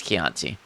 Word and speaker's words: Chianti: Italian CH is K.